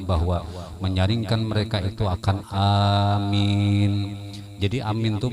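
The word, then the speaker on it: آمين: Amin itu artinya kabulkan ya Allah. Amin gitu. Bacanya alifnya itu 4 harakat, minnya itu 2 harakat. Amin cukup. Yang penting kedua-duanya panjang.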